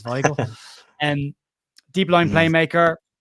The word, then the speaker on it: Weigl: I've been corrected on his pronunciations, Weigl.